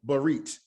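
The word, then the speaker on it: brit: So instead of saying barit, which is the word for covenant, you say barit, barit, barit. So that's making it short and hurried.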